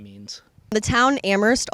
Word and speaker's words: Amherst: name means the town amherst also has an h in it and it's supposed to be silent but a lot of